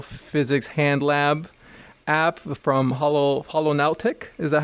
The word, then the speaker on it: Holonautic: They are the creators of the Virtual Physics Hand Lab app from Holonautic. Is that how you say it? Holonautic. Yes, Holonautic, yeah.